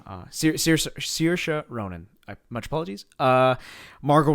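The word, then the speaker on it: Saoirse: there was uh adrian brody kiefer sutherland um sarcia sarcia ronan right that's how you say her name uh sir sirsha ronan much apologies uh margot robbie that would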